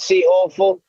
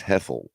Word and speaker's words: Heffel: It's not C. Heffel. It's Heffel.